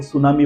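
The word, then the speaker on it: tsunami: है और जापानीज़ में टी का प्रोनाउंसिएशन नहीं होता है, तो उन्होंने सुनामी के स्पेलिंग के आगे टी को लगा दिया जिससे वो साइलेंट हो गया। वहाँ पे एस से चालू करते तो वो प्रोनाउंसिएशन अलग हो जाता, उसका अलग मीनिंग निकलता है। तो उन्होंने टी लगाकर वो सुनामी वर्ड बना दिया, दैट इज सुनामी, वो जापानी वर्ड है।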